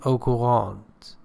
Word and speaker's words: au courant: And au courant means up to date, updated, recent, new. Or according to the French pronunciation, au courant.